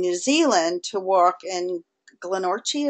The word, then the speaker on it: Glenorchy: Zealand to walk in Glenorchy. Is that how you pronounce it? Yeah, Glenorchy. It's a Scottish.